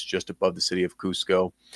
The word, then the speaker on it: Cusco: I think it's Cusco, if I'm not mistaken, Peru, right?